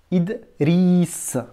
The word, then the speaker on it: Idriss: Tu repères même la voyelle I que tu entends quand tu dis Idri. Dans la syllabe avec le R roulé, tu as bien le son I. Idri. Idriss.